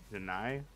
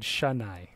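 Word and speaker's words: しない: Well, I didn't pronounce the E sound. Yeah, sure. It almost sounds like you said shanai.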